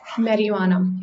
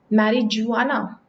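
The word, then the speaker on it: marijuana: से प्रोनाउंस करते हो मैरी जुआना ज यह जो ज ह यह साइलेंट होता है इट्स मैरिहुआना य ह और य इनको मिला के साउंड यहां पे आती है ना कि ज की मैरिहुआना यह हो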